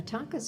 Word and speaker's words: tanka: Yeah, tankas are fun to write. I mean, or I should say tanka. You don't put the tanka are fun to write.